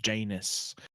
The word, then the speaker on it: Janus: for the record uh my last name is pronounced janus i've been saying janice this whole time you have the entire